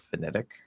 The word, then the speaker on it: phonetic: And notice that I flap the D for that T sound, right? There's no flap T, it's a flapped D because it's never a T sound.